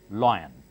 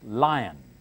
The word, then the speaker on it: lion: this one hippopotamus lion some people call it lion especially in North India I've heard many people mispronounce this one is lion no this lion okay all these pronunciations